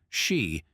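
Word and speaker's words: 四: In Japanese, the number 4, shi, is pronounced exactly the same as the word for death.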